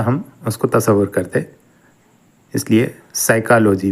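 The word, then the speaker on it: psyche: है पहला यूनानी लब्ज साइ की है साइ की इसमें पी को हम नहीं पढ़ते इसको साइलेंट करते हैं पी एस वाई सी एच ई यह साइ की ल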